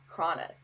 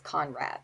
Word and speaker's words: Konrath: Cronath, and I think I pronounced the last name right, but it's spelled Kronath. I'm sorry, it's Conrath, Konrath.